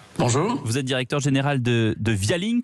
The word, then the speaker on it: Vialink: êtes directeur général de via link que je crois qu'on prononce à l'anglais ce via link la